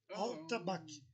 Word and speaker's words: atabaque: Se escreve Al-A-L, tabaque, com Q mudo no final. Al-tabaque. Esse é o nome original do instrumento.